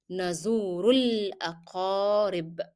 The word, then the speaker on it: نزور الأقارب: Remember that you are going to drop the pronunciation of Alif. So you go from Dhamma to Lam. Nazurul, Nazurul Aqarib.